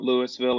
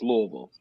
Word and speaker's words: Louisville: You got to say it like you've got crackers in your mouth, not Louisville or Louisville. It's Louisville.